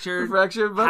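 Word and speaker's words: The Fractured But Whole: The Fractured Butthole.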